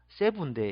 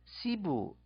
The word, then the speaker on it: Cebu: 또 예를 들어서 세부인데 이게 에 발음인데 세부인데 시부 아이로 발음 시부 에와 이의 중간처럼 이렇게 시부도 발음하는 사람이 있고 세부 발음하는 사람도 있습니다.